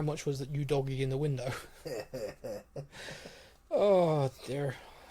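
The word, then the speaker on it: Udogie: Scarlett, Divine, Udogi, which, by the way, I've been pronouncing wrong. It is Udogi.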